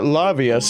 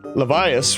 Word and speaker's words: Levias: Recently, I've heard rumors suggesting that Lavius is trapped. Lavius, rather. Well, I pronounced it right the first time, but not that time.